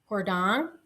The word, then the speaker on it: Jordaan: I stayed it begins with a J, but it's actually pronounced I believe Hordang.